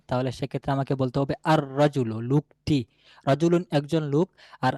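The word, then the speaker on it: الرجل: এইযে আলিফ লাম আমি আর রাজুলু। তারপর আল কিতাবু উচ্চারণ কিন্তু দুই রকম হচ্ছে। আর রাজুলু আর রাজুলু আশশামসু আল কামারু। এইযে কখনো লামটা উচ্চারণে আসতেছে কখনো আসছে না।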